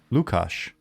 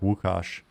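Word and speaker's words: Łukasz: the first time um lukasz or i think it's pronounced more like wukash uh he was i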